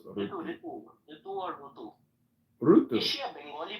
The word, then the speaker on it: Rutu: R-U-T-U is how she spells it, but she says it's pronounced Rutu. Ritu or Rutu?